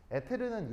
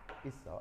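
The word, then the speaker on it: ether: 에테르는 일본식 발음이고요. 영어 발음으로는 이렇게 이서라고 합니다. 이서 아시겠죠?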